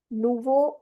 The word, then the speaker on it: nouveau: Nouveau is new. OU gives you the O sound, and this is O sound. So, nouveau.